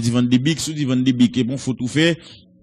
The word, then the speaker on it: Van de Beek: Van de Beek, sous Van de Beek, bon, faut tout faire, mais c'est Van de Beek, il prononce son seul E, non, B-E-E-K, et comme